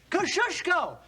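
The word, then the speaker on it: Kosciuszko: of General Gates chief engineer say it and spell it kushko k o s c i u s z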